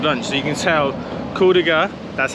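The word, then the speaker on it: Kuldīga: So you can tell Kuldiga, that's how you pronounce it, is a very small, easily walkable place.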